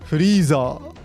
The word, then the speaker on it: Frieza: However, the Japanese pronunciation of the English word freezer is Frieza. Note, this word ends in a long ah vowel.